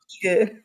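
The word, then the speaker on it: Igel: It is written I t e l but pronounced eagle.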